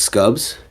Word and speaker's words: Scubs: scubs if you want i've been calling you scoobs the whole time but then like at some point i think you revealed that someone was mispronouncing it now i'm not sure which one i mean she revealed that i was mispronouncing it but it's it's scubs i hard disagree i